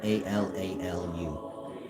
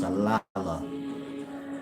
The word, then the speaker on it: Alalu: Maybe you read some of Eric von Däniken books and he have, Alala in there, spelled A-L-A-L-U. Some people may pronounce it Alalu, but the U is so it's Alala.